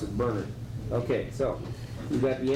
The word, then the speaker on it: Bernard: Please pronounce it Bernard.